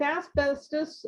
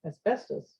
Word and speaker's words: asbestos: hard one um with asbestos and i think i just said it wrong asbestos yeah i was putting the emphasis on the wrong syllable um we have enough